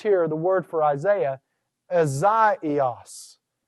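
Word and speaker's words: Ἠσαΐας: And so notice here the word for Isaiah, Azaios. Azaios. All right, notice how I took what was normally a diphthong and I pronounced each letter of that.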